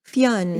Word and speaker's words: Fionn: It's Fionn. Am I saying it right? Fionn. Fionn.